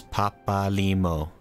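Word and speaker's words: Papalymo: Smo says Papalimo. Okay. That makes sense. It's like even syllables. They're like even pronunciation for every syllable. That's a very Japanese way to do it, so okay.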